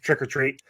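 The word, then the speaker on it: Trick 'r Treat: RSA trick art tree although it's just trick-or treat um from 2009 that's how you say it is trick-or-treat I thought it was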